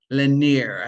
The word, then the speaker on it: Lennyr: And we're speaking with Lennyr. I think I got the pronunciation right. Yes? Yes.